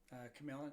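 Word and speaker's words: Q'emiln: Is that how you say it? Camelin, yeah.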